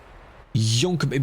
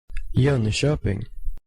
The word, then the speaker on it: Jönköping: Jönköping. Jönköping. Jönköping. Ah, so it's a sh. Is that good? Jonkoping. No. Jonkoping. That's AI. Jönköping.